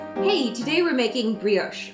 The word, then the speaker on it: brioche: Today we're making brioche or brioche (-osh) Both pronunciations are correct Anyways, it's going to be super fluffy, at times, almost monstrous...